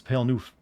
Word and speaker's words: Pale Noof: pretty easy to pronounce it's just pale two words pale noof 60 second minute wengie